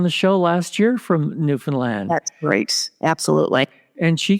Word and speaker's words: Newfoundland: I'd like to welcome to the show today Raylynn White, coming to us from, oh my gosh, Newfoundland, Canada.